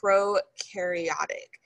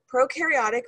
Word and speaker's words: prokaryotic: okay so bacteria they're prokaryotic so pro rhymes with no that means they have